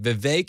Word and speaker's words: Vivek: My name's Vivek. It rhymes with cake.